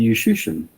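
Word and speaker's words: Juszczyszyn: He told me Yushushin. And now they're saying that it's like musician, but with a J-U. Yushushin.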